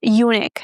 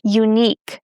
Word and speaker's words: unique: It's not unique, okay? It's the second syllable that is stressed, unique. And we have the long e sound as in beach, unique.